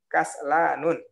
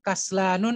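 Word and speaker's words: كسلان: Mahmudun talibun kaslanun atau kaslanu bacanya. Tadi saya suruh baca kaslanun, betul kan? Sebenarnya dia yang lebih benar adalah kaslanu ya, sebagaimana antum baca.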